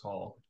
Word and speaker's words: Hall: Yeah, it's spelled weird, but it's just pronounced Hall.